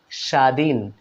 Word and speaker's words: স্বাধীন: না তক এখানে দেখুন স্বাধীন স্বাধীন বানানে এখানেও ব ফলা উচ্চারিত হলো না স্বাধীন দ্বাদশ আমরা কিন্তু